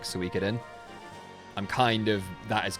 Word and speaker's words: Suikoden: Suikoden Like Suicune. Suikoden. I mean, I always I never pronounced the E at all.